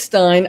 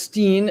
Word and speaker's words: Bernstein: I thought I'd mentioned it's Stein I don't know why it's Stein really so in in the United States s-t-e-i-n is usually pronounced Steen and I don't know why